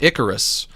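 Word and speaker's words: ichorous: The first syllable is pronounced like the word ick.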